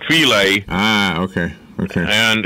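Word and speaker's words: filé: It's spelled the same way as fish fillet, but it's pronounced filet.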